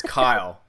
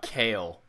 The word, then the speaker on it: Kyle: hey hey hey hey it's kyle not kale which uh i don't